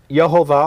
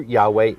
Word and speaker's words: Yahweh: is the Jewish encyclopedia now Jehovah or Jehovah a mispronunciation of the Hebrew Yahweh the name of Elohim